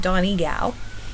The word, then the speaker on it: Donegal: But anyway, I was corrected in the proper pronunciation of it, Donegal. So I'm going to try my best to say it properly.